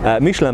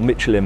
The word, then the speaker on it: Michelin: I use correct French pronunciation, Michelin man, or Michelin man as we say in Britain, and they look too